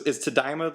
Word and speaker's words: Tadaima: Is Tadaima the how you pronounce that? It is. I was actually impressed that you got it on your first try.